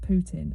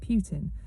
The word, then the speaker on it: Putin: I've heard people pronounce it Putin, and some people call it Putin. I'm going to call him Putin because I think it's suitable that his name is Putin.